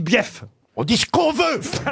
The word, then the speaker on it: bief: Peroni le guêpes détend il y a deux syllabes BF ah non on dit bief on dit ce qu'on